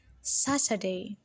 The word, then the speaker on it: Saturday: and what stress together saturday saturday saturday is a three-syllable word and the sat is stressed saturday now imagine if